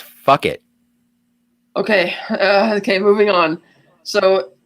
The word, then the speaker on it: Phuket: Yeah, this island, by the way, is about 10 miles south of Phuket in the Phuket Tao Island chain. Cat. Yeah. It's pronounced fuck it.